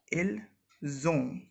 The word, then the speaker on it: ils ont: Here again the basic difference between ils, elles sont and ils, elles ont is the buzzing sound. Here we say ils ont when we are pronouncing this and this together, and here it was simply ils sont.